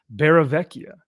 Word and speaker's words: Barravecchia: And tonight we have a very, very special guest with us, Jonathan Marks Barravecchia. And I want to make sure I'm pronouncing that correctly.